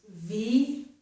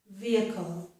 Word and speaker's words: vehicle: This word has the letter H, but the letter H is not pronounced. So this is vehicle, vehicle. We do not pronounce that H. It's a 3-syllable word, vehicle, vehicle.